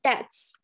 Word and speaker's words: debts: debts，哎，大家不要被我带跑偏了啊。debts 这个 b 是不发音的啊。debts or liabilities of the association。